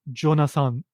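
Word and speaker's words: ジョナサン: But Japanese people just call it Jonasan. No, like zu or su sound to represent the possessive.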